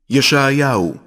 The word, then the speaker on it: ישעיהו: ישעיהו, שליח אלוהים.